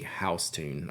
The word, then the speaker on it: Houston: the street New York was named for Willie house tune okay so okay so it's just like Regional based on whoever like that person's pronunciation was like I have no clue who